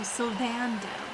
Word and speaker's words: Sylvando: Oh, Sylvando. I'm sorry, I was putting emphasis on the wrong syllable.